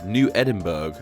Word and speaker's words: New Edinburgh: Interestingly, however, New Edinburgh is often pronounced to rhyme with Pittsburgh, a la New Edinburgh, as opposed to the traditional Scottish way of pronouncing the name.